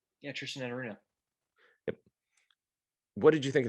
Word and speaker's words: Tristan Enaruna: Am I pronouncing that correctly? Yeah, Tristan Enaruna.